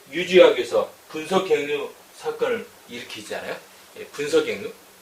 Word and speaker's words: 분서갱유: 분서갱유, 분서갱유, 경유 아니죠.